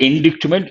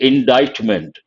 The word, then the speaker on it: indictment: bag very good indictment careful with pronunciation not indictment indictment part of speech noun